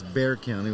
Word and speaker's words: Bexar County: Bexar County I'm like I know it's Bear County which is b x a r yeah I get that